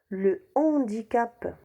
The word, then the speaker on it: handicap: bout on dit le hibou handicap on dit le handicap haricots ont dit le haricot héros le héros